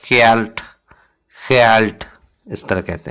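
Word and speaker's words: geld: spelling है गेट्ट लेकिन pronunciation होता है कैल्ट कैल्ट इस तरह कहते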